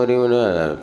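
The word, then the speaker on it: ह्रीं: जो भी हम पूजन के बाद भैया पूजा करो, ओम ह्रीम, पूरा अच्छे से बोलो, ओम ह्रीम अरहम, जो भी बोलता। अब ह्रीम को कह लो रीम बोलते हैं, ओम रीम नहीं।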